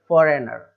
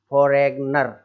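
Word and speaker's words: foreigner: रहते हैं इसको भी, फॉरेनर, इस तरीके से बोलते हैं, फॉरेनर, ना कि फॉरेग्न, फॉरेग्नर, फॉरेग्नर, जी नहीं बोलना है, वहाँ पर जी साइलेंट हो गया, उसको पढ़ना ही नहीं है, देखो मत, आप तो डायरेक्ट पढ़ो फॉरेनर, ठीक है, कोई भी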